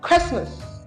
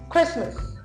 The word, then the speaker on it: Christmas: it is M yes how do you pronounce this word it's called what Christmas Christmas so it's Christmas time